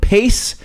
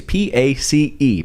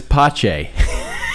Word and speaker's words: Pace: Dad referred to it as pache. He instead of just the simple pronunciation that it was, Dad couldn't accept that it was just that simple. No. It was pache.